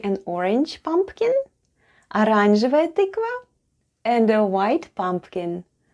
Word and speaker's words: оранжевая: The first letter is O, and it's unstressed and is pronounced as A.